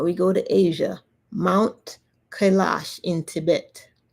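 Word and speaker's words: Kailash: Now we go to Asia, Mount Kalash in Tibet.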